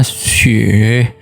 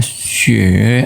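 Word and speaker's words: 雪: atas Hai kalau kita tambahkan bentuk seperti ini bacanya Sheikh artinya salju Jadi kalau tinggal di atas ini agak miring kemudian tema akan aksara di bawahnya jadinya xie artinya salju ya Atau punya dengan hujan ya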